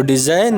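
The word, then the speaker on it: design: डिजाइन, खाका या नमूना, तो डिजाइन में जी जो है वो साइलेंट है, यानी साख्त हुरूफ है।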